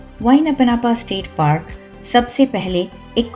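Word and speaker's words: Waiʻānapanapa: वाइनपनापा state park सबसे पहले एक क्विक चिप। इसको प्रोनाउंस कैसे करते हैं? इट इज लाइक वाई ना प ना प थोड़ा ट्रिकी है लेकिन वंस यू से इट मजा आ जाता है।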